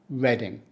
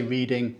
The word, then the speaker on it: Reading: with the next one we say reading we don't say reading as in reading a book don't Let the spelling fool you it isn't about books it's just reading like the color red now reading was